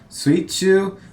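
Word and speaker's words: 水中: So if we look at the kanji here, we have the kanji for water and the kanji for middle, and they're pronounced exactly as I expect them to be. Suichu. The other way you can pronounce these kanjis like mizu and naka, but that wouldn't make sense here.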